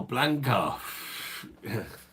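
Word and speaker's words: Blanka: Oh, Blanca. Rhymes with wanker.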